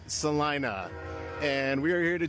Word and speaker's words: Celina: All right, welcome to Eat Stark Naked Live and today we are in Salina. Not to be pronounced or confused with Selena. No, it's Salina.